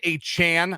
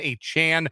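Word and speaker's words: Achane: in Jalen waddle uh Devin a Chan I believe is how he wants his name to be pronounced now Devin a Chan uh and Raheem mostert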